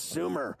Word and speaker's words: Sumer: to Coffee I go I think it's Sumer because last year I butchered it I was like here's Thomas demitro from Summer Sports and you're like it's Sumer idiot and then your partner